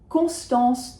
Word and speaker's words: Constance: Ideally, not too many N's in Constance, but if you say Constance, you will be understood. I think it's perfectly fine. For me, they are nasals, the on and the en, Constance.